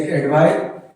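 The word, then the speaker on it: advice: Last में अगर किसी वर्ड के लास्ट में C लगा रहता है तो उसको स पढ़ा जाता है, इसलिए ये होगा एडवाइस, एडवाइस, और ये होगा एडवाइज, एडवाइज।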